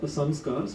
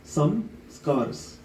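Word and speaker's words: संस्कार: all these unwanted samcar samcar in Sanskrit is of course you know it's it's uh pronounced as Sam scars but you can also say it as in English as some scars scars you know like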